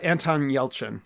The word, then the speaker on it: Yelchin: Uh Anton Yelchin Yelchin who uh uh sadly passed away and I know you're a huge fan of him.